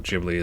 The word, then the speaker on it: Ghibli: I absolutely adore Studio Gibli or Ghibli as some people pronounce it. I'm pretty sure that I am correct saying Gibli, but at the end of the day, I don't really care.